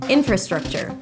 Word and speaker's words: infrastructure: Infrastructure, primary stress on the first syllable and then a lot of reduced syllables. Infrastructure. Infrastructure.